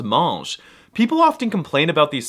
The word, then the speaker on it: mange: And if I want to say you, he, she, it, or they eat, the verb spelling does change, but they're all still pronounced mange.